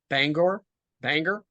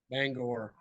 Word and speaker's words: Bangor: I mean, I only know one town in Maine, Bangor. You don't even know how to pronounce it. You said it right the first time. Bangor. Okay. Yeah. That's what out-of-staters call it. Bangor.